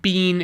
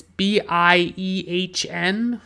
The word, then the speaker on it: Biehn: I believe Bean is the correct way to pronounce his name. It's Biehn, and he plays Kyle Reese.